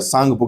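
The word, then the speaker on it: Tsangpo: तसा सांगपो इसको मेनली सांगप बोलते हैं। इंग्लिश में टी जो होता है वो साइलेंट होता है।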